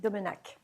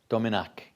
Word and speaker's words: Domenach: uh Ambassador Muriel domak has been am I pronouncing that correctly that's correct Domin Domin Ambassador Muriel dominc has been serving as permanent